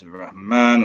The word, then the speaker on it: الرحمن: من سورة الرحمن But وذلك don't pronounce the lam because the ra is a sun letter.